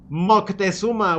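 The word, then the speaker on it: Moctezuma: Montesuma imbecile is Mockuma with a C. It's not an N. It's mockuma.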